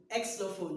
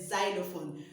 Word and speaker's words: xylophone: is spelled x y it starts with an x but then we don't pronounce it with exophone no it's a xylophone so most times we